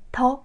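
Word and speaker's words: 的: 고리 역할을 할 때는 더 라고 가볍게 경성으로 발음이 되요 이 연결고리를 해서 더 라고 발음이 될 때는 요 앞 쪽에 형용사가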